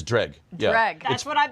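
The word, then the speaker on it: Dreugh: It's Dreg. Yeah. Dreg. That's what I've been saying. Drag. All right. It's pronounced as if it didn't have some of the letters in it.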